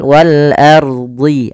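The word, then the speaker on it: وَالْأَرْضِ: Kemudian pada lafal wal ardi, a-nya tipis, ro-nya tebal. Nah, jangan ar, tapi dia wal ardi, wal ardi, wal ardi, wal ardi fanfudhu.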